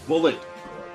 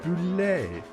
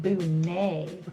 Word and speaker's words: Boulet: It's pronounced bullet. It is not. It is not. It's boulet. It's more like boo-nay.